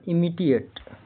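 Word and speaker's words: imitate: आई दूसरा है इमीडिएट यहां क्या है? आई का उच्चारण क्या आ रहा है? ई आ रहा है। आई एम आई टी ए टी ई इसका उच्चारण इमिटेट इमिटेट हो रहा है।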